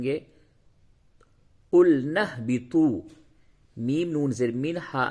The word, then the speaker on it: اهبطوا: پیش تو، بی تو، طا کو تھوڑا پڑ کر کے موٹی آواز سے پڑھیں گے۔ قلنا اهبطوا، میم نون زیر من،